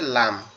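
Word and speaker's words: ل: ওকে, আচ্ছা, এরপরে যেটা আছে সেটা হচ্ছে লাম। এরপরে যেটা আছে সেটা হচ্ছে কি? সেটা হচ্ছে লাম।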